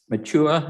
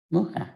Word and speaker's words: Mucha: Adjacent Machua, am I pronouncing that correctly? Mucha, like the painter. Mucha. Mucha, like the Mucha. painter.